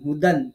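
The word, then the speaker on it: هُدًى: এই যে ওয়াও, মানে সরি, দুই জবরের সাথে যে একটা আলিফ বা ইয়া যেটা লেখা থাকে এটা উচ্চারণে আসবে না। আপনি সরাসরি হা পেশ হু দাল দুই জবর দান হুদান এটাই শিখাবেন।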